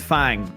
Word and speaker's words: Fang: Jackie Fong, but it's Fang. F A N G. but pronounced fun.